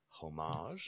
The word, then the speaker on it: Homage: I'm going to say it right this time, to debut Homage. Fromage, like fromage.